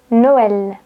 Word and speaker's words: Noël: Si vous avez un tréma sur le E, c'est-à-dire deux points, vous allez prononcer est, comme Noël.